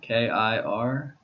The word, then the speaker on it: Kirchner: Last name, Kirchner, Kirchner. So the CH is pronounced like a T.